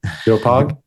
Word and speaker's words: Doepog: pronounced? Yeah, you got it. You got it. Dopog?